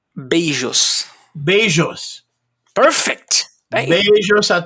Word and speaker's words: beijos: Besos? Beijos.